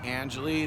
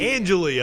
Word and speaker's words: Angeli: your first and last name and how to spell it please sure my name is jake angeli that's j-a-k-e angelia i was saying it wrong i'm sorry and can i ask your age yeah sure i'm 32.